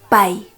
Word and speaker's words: pay: Él, ella, eso, esa, pai.